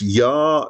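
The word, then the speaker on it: Jah: So there's, for example, there's a track here called No Yah Today, so that means Yar is spelled with the J.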